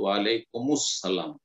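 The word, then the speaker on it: وعليكم السلام: আরবি মিলিয়ে পড়তে হয় এরকম ক্ষেত্রে তো ওয়ালাইকুমুস সালাম মিলিয়ে পড়বেন আলটা তখন সাইলেন্ট হয়ে যাবে আল সাইলেন্ট হয়ে তখন মুসসালাম হয়ে যাবে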